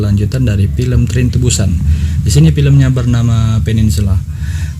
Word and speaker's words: Busan: Busan? Is this the correct pronunciation? That's right, and people were evacuated there.